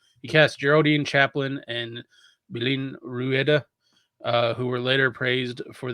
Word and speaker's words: Belén Rueda: I gotta help you out with this one. I'm trying not to destroy because it's Spanish and I can like pronunciate Spanish. Yeah. J. Belen Rueda. Belén Rueda, thank you.